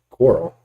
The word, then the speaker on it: Corral: Yeah, it's Matt Corral. Coral.